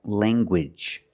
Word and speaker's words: language: hard g sound, like language. Language. You have the nasal sound, lang, and the hard g. Gwidge. Language.